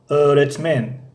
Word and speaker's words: öğretmen: اما در اینجا öğretmen این yumuşak G تقریبا تلفظ نمی شود öğretmen خب burası neresi